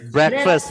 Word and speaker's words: breakfast: sarapan ya Sarapan tadi bahasa Inggrisnya apa have breakfast ya have breakfast Perhatikan cara cara membacanya ini dibaca breakfast ya walaupun Kalau dipisah-pisah